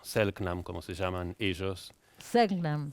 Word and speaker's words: Selknam: Hace 30 años me topé con la historia de estos ONAS o Selknam, como se llaman ellos. Selknam. ¿Cómo que es? fueron Selknam. Selknam. Algunos pronuncian Shelknam Selknam. también, que fueron una familia